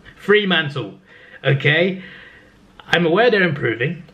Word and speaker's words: Fremantle: In 11th place is Fremantle. I keep pronouncing it wrong. Fremantle.